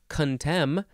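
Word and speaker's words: contemn: strong dislike to loathing as in despises cowards contem which is spelled c-o-n-t-e-m-n contem implies a vehement condemnation of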